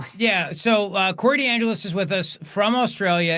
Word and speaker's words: DeAngelis: It rhymes with my last name. The Evangelist. That's right. D'Angelus the Evangelist.